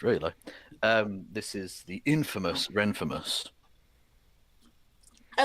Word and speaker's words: Renfamous: This is the infamous Renfamous. I like that. I'm stealing that. Yeah. So it's a good way to teach people how to pronounce it right, too. Infamous Renfamous!